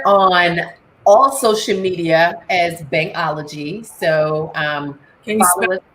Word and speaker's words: Bhangology: So we're on all social media as Bhangology. So can you spell that?